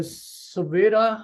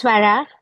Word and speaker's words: Savera: Dr. Savera, I think. I think I said it right. Yes, doc. It's Swara. Savera.